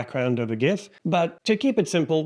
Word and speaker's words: GIF: And for the record, I was at a business retreat with the founder of Giphy, the online library for GIFs, and he assured me that it is pronounced GIF and not GIF.